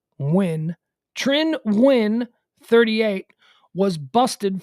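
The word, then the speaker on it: Nguyen: pump two bullets trin win 38 and i'm pronouncing that because i've known a number of vietnamese people and i know that n-g-u-y-e-n most often is pronounced win trin win 38 was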